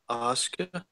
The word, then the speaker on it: Asuka: Asuka.